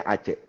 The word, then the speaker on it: Aceh: Jadi Aceh ini dibacanya harusnya Aceh.